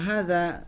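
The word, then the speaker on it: هذا: seperti yang kita ketahui cara pengucapan Haza itu hanya itu dua harokat jadi Hanya dua harokat kemudian zatnya dua harokat geraknya dua harokat pas tidak dibaca Dua harokat karena jelas di depannya ada tulisan Alif ya Nah hanya walaupun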